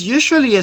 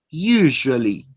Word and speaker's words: usually: It is usually spelled with the letters SI or S. For example, television, notice, television, Asia, Asia, usually, usually. And notice here that we are going to produce the sound zzz, zzz, zzz.